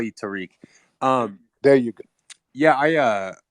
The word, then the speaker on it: Tariq: a real white man he pronounced my name tarak so what's going on how do you pronounce it tariq it's terrific but the